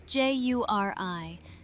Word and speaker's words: Juri: That's Juri, 2 syllables, not hard.